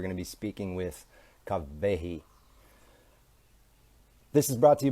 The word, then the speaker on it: Kawehi: an mma radical lady kawahi where are you sorry i'm saying your name wrong kavehi where are you let's